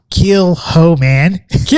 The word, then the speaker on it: Kilchoman: We have the Kilchoman Man, and that's Kilchoman Man. That's how I remembered it. Kill the hoe, man.